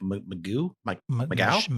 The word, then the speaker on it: Mageau: Yeah, even the first murder with Darlene and Mike Mageau. They pronounce it kind of French.